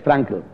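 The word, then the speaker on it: Frankl: No no es K es frankel tal como lo pronuncian ellos mismos frankel el dolor es no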